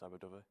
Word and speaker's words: Aberdyfi: No, Michael, it's pronounced Aberdyfi.